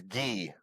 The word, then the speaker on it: Gui: Is it's it I Gui or I learned it's Gee.